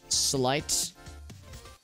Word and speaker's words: sleight: We'll say sleight. Is that how you spell it? Sleight of hand? Let me double check this real quick. It's like slate is how you pronounce it, or how you spell it.